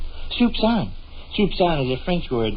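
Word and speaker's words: soupçon: Soupsan. Soupsan is a French word meaning a small morsel or a little taste. It's spelled s o u p c o n.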